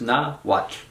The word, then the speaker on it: Nahuatl: That HU is just a W, so think of it as Nahuatl.